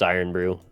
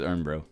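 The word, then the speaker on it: Irn-Bru: yeah it's it's not it's not N Brew it's iron Brew no is ear Brew I said it wrong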